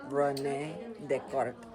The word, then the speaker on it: René Descartes: His name was René Descartes, pronounced René Descartes.